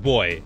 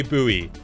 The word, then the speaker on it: buoy: seeing this boy boy it's just pronounced boy okay I kep saying buoy and I oh in America you say buoy buoy oh okay well I'll say boy then sure cuz I was